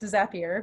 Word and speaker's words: Zapier: many of you use i think it's pronounced zapier because there's apps but you can set